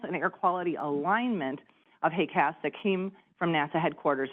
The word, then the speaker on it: HAQAST: and the T, but the easiest way we found to pronounce it is really just to think of it like HAQAST, but with hay.